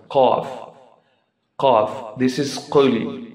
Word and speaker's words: قُلْ: Qul. Remember, there is difference between kha sound and qaf sound. Qaf. Qaf. This is qul, not qul.